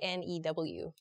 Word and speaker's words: knew: say for interesting so how do you pronounce k n e w k n e w right yeah I think I say new as well but I I've heard some people kind of they recognize the k sound and make it more of like a new new sort of sound okay I just say